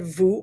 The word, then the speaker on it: vous: So normally if we just said vous by itself, there's no S.